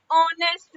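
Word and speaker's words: honest: ऑनेस्ट ओ स्वर करे है ना अ आ ई तो ओ ओ आ गया ना तो क्या यूज़ हुआ एन एन ऑनेस्ट man because H is silent so the word start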